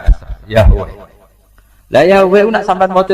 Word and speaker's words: Yahweh: Ya, nak tengejaan Latin Y besar, A H besar, W E H besar, Yahweh.